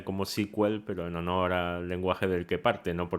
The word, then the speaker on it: SQL: sequel y después sql no que sql lo pronuncian como sequel pero no noora lenguaje del que parte no